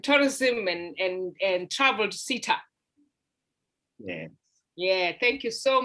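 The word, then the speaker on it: CATHSSETA: cultural um and tourism and and and troubled sita yes yeah thank you so much as well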